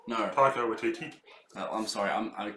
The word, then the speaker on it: Taika Waititi: What's is it Watiki? No. Taika Waititi. I'm sorry. I'm not going to pronounce the name right.